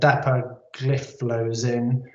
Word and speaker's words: dapagliflozin: And then there's the dapagliflozin. That's exactly how you say it.